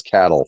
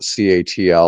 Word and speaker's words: CATL: Yeah, the company the Nebraska pronunciation is cattle, folks. So Right. if you're Yeah. from Nebraska, you call it cattle. If you're from California, you might call it CATL or something else.